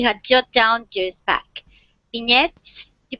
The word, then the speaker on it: vignette: Vignettes. You pronounce vignettes like the French ones?